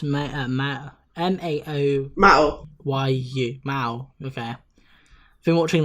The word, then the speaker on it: Mao: Yeah, it's pronounced Mao. M-A-O...